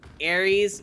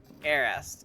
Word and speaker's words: Aries: Also, it's Aries, not Arist. It's Aries. Okie dokie.